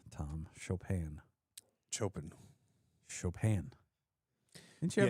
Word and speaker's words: Chopin: Chopin. You mean you didn't grab any of these Polish. Canadian clubs? These gems that we brought in? It's Chopin, Tom. Chopin.